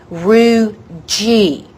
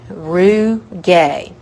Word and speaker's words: rugae: should be Roo G it should be pronounced Roo G but so many people have said it's wrong so long that wrong is now right so for testing purposes root gay Roo gay so rugae are ridges